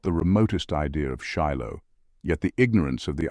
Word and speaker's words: Shiloh: the second interpretation of the tetragram shill pronounced Shiloh is equally important and